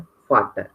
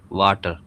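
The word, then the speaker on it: Vater: लेकिन यहाँ पर हमको रूल्स पता पड़ गया कि वी का प्रोनाउंसिएशन एफ होता है, ठीक है?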